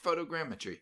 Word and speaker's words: photogrammetry: yeah fruit fruit again I think you say photogrammetry okay okay yeah there